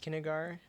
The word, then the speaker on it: Kinnegar: Yes, I believe it's pronounced Kinnegar, not the way Mark tried to pronounce it a couple of weeks ago.